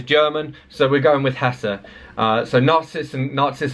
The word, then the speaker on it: Hesse: Tock corrected me because I was calling him Hermann Hess but before that I'd been calling in him Hermann Hesser and somebody on YouTube said no it's pronounced